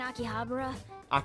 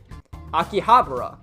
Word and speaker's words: Akihabara: wait we're meeting in akihabara is futaba really going to be okay we'd better get over there i think i put the emphasis on the wrong syllable akihabara also known as akiba